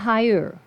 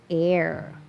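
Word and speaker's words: heir: ทายาท เห็น มย คำ นี้ ไม่ อ่าน ว่า Higher ไม่ ใช่ ยี่ห้อ แอ นะ แต่ มัน ออก เสียง เป็น Air Air อ้า ออก เสียง อ อ่าง นี่ นา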